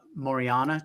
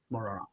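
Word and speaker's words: Majorana: said, but so Microsoft came out with their Maucere chip. Is that I'm hope I'm pronouncing it right. That's right. Correct. Maucere.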